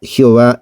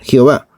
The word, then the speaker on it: Jehová: Y para recordar al lector que por respeto debían decir Edonai en vez de Yahvé, pusieron las 3 vocales E, O, A de la palabra Edonai y resultó Jehová en latín.